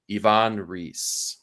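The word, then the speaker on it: Ivan Reis: what we now found out to be uh pronounced as Ivon reee so this issue um kicks off and it's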